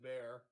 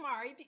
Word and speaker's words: Maher: ellis i said no i said his name wrong i said bear yeah yeah sorry yeah bill maher like if garth wolf